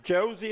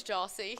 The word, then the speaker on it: Jossie: I'm here with winning pitcher Josie. Am I saying that right? It's Jossie. Jossie.